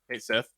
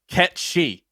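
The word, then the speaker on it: Cait Sith: to actually pronounce Kate Sith? No. Don't like ruin my life. It's Ketchi. Yeah. Nah. It's like some Gaelic shit.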